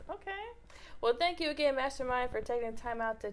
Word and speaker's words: Mvstermind: name properly so uh it's mastermind but it's spelled with a v so that's m-v-s-t-e-r-m-i-n-d it's like upside down